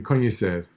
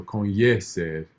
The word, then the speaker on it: conhecer: But I know Michelle Thomas definitely talked about the I rule, which is if a word ends in I, R, U, or L, it's stressed on the penultimate syllable.